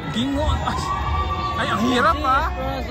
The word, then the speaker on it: Gingoog: U ang hirap ng bigkasing non Kuya anong bigkasing muli hingo Gingoog ay ang hirap ah pronce like an nahirap